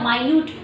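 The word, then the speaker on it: minute: ना ये बताया था मयूयूट देखो मिनट नहीं पढ़ना है बेटा इसको ये जो घड़ी में होता है ना सेकंड मिनट आर ये नहीं पढ़ना है स्पेलिंग से है मतलब की बहुत स्मालेस्ट पार्टिकल स्पेलिंग से है लेकिन पढ़ना अलग है इसे सेंटेंस के ऊपर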